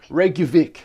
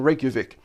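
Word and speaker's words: Reykjavík: be absolutely murdered by some uh angry vikings reykjavik reykjavik i really want to go there someday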